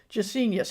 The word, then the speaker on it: Gesenius: Gesenius. It sounds a little bit like genius.